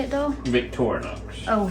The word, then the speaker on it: Victorinox: Victorinox. Oh, Victorinox.